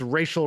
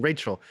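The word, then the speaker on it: Rachael: these cooking shows and he used to say like um oh I really like this racial Ray girl but he was mispronouncing Rachel so I would think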